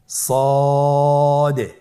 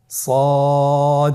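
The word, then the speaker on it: ص: সদ হরফটি পুর হরফ, মোটা হরফ উচ্চারণের ক্ষেত্রে মোটা করে পড়তে হবে এবং উচ্চারণ করার সময় তিন আলিফ টেনে পড়তে হবে। আপনারা আমার সাথে বলুন সদ। আবার বলুন সদ।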